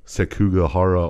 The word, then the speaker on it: Sekigahara: Yasu and Mitsunari is this the battle of sekigahara only I think so yes nice and Fukushima castle yes perfect pronunciation you guys are really crushing this damn